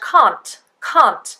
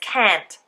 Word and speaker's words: can't: sound, and do, d, very often in this case we would have a disappearing T.